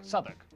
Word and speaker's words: Southwark: W at the start of the final syllable is silent. Norwich, Berwick, Southwark.